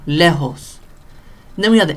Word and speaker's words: lejos: J, and it sounds like an H. So I don't know what the thinking was behind that. But Julio, lejos. All right. You could almost think of the J right here, all right? The Spanish J or the English H. Julio, lejos.